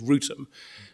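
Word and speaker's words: Wrotham: Well, it doesn't rhyme with Gotham. We think it rhymes with Rutum, and is Rutum, in fact.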